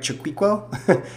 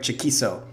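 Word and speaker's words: Chaquico: It looks like Craig Chiquiquo, but it's pronunciated Craig Chiquiso.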